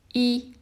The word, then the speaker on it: 一: It's just one horizontal stroke, and it's pronounced as E, number 1.